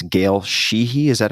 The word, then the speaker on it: Sheehy: Passages, and I think it's Gail Sheehy. Is that how you pronounce the last name? Sheehy.